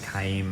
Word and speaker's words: Kaim: It's a long I, Kaim.